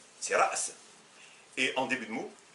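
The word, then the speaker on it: رأس: Lorsqu'elle est au milieu, par exemple, ra's, ra's. Mais nous, on l'évite, on dit ras pour dire la tête. C'est ra's.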